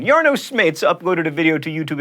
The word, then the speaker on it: Jarno Smeets: Now I get to show off my Dutch pronunciation. Jarno Smeets uploaded a video to YouTube in March of 2012, but this wasn't like, babies licking fingers or cats playing keyboards.